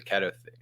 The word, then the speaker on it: keto: the ketto thing any anyway or is it kto or keto so I've done this too and I still don't know how to say this word and I'll probably forget uh so it's pronounced keto and for those of you who don't uh